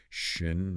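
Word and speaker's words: schön: Now, keep making that sound, but round your lips tightly as if you were going to whistle or say ooh. Ooh. That's the idea. It's that rounded a sound.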